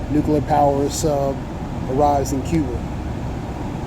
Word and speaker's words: Cuba: power sub arrives in Cuba Kuba so pronounce as Kuba um is right here